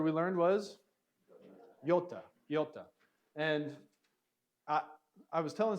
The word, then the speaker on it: iota: And I was telling some people that I've heard multiple kind of modern Greek pronunciations. It probably depends on where you are in Greece, kind of like how do you pronounce American English? Well, it kind of depends on where you are in America. But this could have more of a Y sound or more of a,